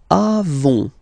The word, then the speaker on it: avons: Okay, then nous avons, final s not pronounced, avons. Okay, and then we tend